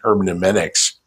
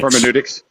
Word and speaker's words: hermeneutics: Also there's a separate statement on hermenics. I know I'm pronouncing that wrong. Hermenics. Hermeneutics.